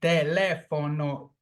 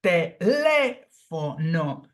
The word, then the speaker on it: teléfono: The same goes with teléfono, teléfono. The phonetic sound falls on the third syllable from the end.